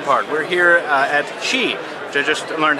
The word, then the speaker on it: Qi: is the fun part we're here uh at Chi which I just learned how to pronounce it's not f as we've been mispronouncing